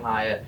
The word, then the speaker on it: Hyatt: Jalen Hyatt. Just like the hotel.